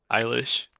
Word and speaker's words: Eilish: like at least give me something no yeah eilish eilish yeah don't your kid i guess your